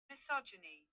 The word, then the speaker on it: misogyny: okay let me check if it's the right pronunciation misogyny misogyny okay it's called misogyny right okay someone